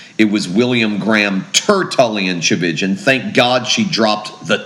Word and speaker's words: Tchividjian: my growing up years that chigan rhymes with religion sometimes that helps people